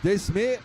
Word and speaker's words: Desme: Portuga, Desme is pronounced as De Sme, like De Wilder.